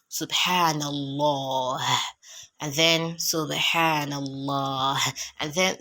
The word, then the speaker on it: subhanallah: Now, this one is not subhanallah that like I've been pronouncing it, but subhanallah, because the ba you apply qalqala.